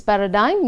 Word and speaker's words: paradigm: to make this model see the word paradigm its pronounces paradigm meaning model to make